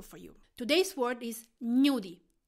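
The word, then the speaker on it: gnudi: can be useful for you today's word is nudey how to spell it G and you D I knew deep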